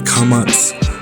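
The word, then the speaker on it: קָמָץ: But at least remember that the kamats and the patach are both ah or aw sounds.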